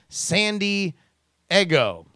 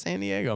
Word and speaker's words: San Diego: giggle on the inside every time you pronounce San Diego as sandy I go hey man I lived there let's just say this weekend sometimes I say it's San Diego man what I'm gonna